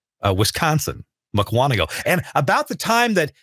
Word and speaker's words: Mukwonago: I had the biggest problem trying to say Mukwonago Wisconsin Mukwonago and about the time that he decided not